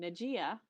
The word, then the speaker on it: Najiyah: who is safe and the pronunciation that i actually use and always have used because at first i didn't really understand but then serendipitously um i always pronounced my name najiya and everyone around me always pronounced it najiya and that means intimate